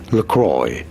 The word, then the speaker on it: La Croix: In the US, this is said as Lacroy.